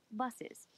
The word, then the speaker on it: buses: word buses is pronounced buses in fact some people spell it with two S's just like it's pronounced sometimes in English a